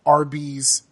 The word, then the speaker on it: Arby's: you realize that um Arby's is pronounced like Arby's which is the initials of roast beef I was today years